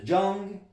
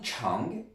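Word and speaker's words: 张: Et ici, ce caractère tout seul, en forme de K majuscule, ben, tout seul, il se prononce Zhang ou Chang, comme le classificateur, le caractère lui se prononce Zhang, donc il a donné la prononciation.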